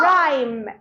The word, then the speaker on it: rhyme: R-H. H is silent. H is Silent. rhino. Rhino. Rhyme. Rhyme.